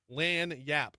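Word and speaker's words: lagniappe: This is what lany yap. Lan yap. Lyap. Two syllables.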